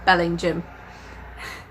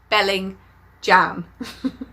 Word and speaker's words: Bellingham: a town called Bellingham or it should be pronounced Bellingham in the audio book it pronounced Belling jam it's just like no is no bellingham it's